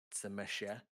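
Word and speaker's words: Tzimisce: to uh the uh tsumesha is what they're pronounced as really is a ain't that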